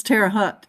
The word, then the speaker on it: Terre Haute: That's Terre Haute, Indiana. Terre Haute, okay. I was struggling to pronounce that forecast last night.